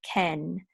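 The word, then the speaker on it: כֵּן: So we're going to say Ken.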